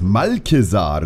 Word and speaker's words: Malchezaar: Prinz Malkesar, so wird es ausgesprochen.